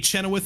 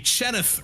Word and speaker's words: Chenoweth: scenes producing the action Chenoweth is here a chenith rather gotta get the syllables right he is uh helping